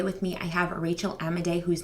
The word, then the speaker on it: Amidei: Rachel Amidei.